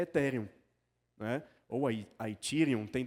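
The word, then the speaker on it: Ethereum: Tem tem tantas discussões sobre pronúncia, eu prefiro falar etheréum porque a rigor etherum também tá errado. Eu tererei que pronunciar a palavra toda em inglês.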